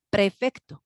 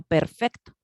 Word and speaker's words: prefecto: por grado, perdón, llamado prefecto, ¿no? Tenemos la prefectura de. Y entonces, perdón, yo he escuchado que tanto papás como los mismos chavos, los alumnos, no pronuncian prefecto, sino perfecto.